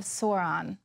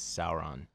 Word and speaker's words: Sauron: So, very wise words there from King Aragorn to help defeat the eye of Sauron. Uh, actually, I believe the correct pronunciation is Sauron.